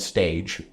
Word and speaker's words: stage: It's spelled stage, but it's French.